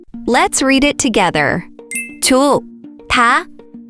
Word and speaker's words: 좋다: 좋다, 좋다, 좋다, 좋다.